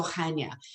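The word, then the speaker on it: Chania: you i think so now how to pronounce hanya which is c-h-a-n-i-a it's basically a guttural ha but i leave that out sometimes and i just go hanya but hanya itself is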